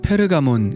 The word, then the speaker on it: 페르가몬: 없느니라 화면 으 버가모 의 원래 발음은 페르가몬 입니다 현재 터키 이즈미르 현애